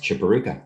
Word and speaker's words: Chiporukha: Chiporukha. Is that how you say it? That's correct. Chiporukha.